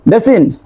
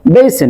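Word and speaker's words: basin: তারপর এটাকে কি বলবো বেসিন নো নো নট বেসিন এটাকে বলবো বেইসেন কি বলবো বেইসেন বেইসেন তারপর খেয়াল করো এটাকে আমরা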